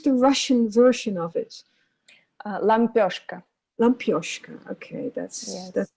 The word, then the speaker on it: Лампёшка: Well, how do you pronounce the Russian version of it? Лампёшка.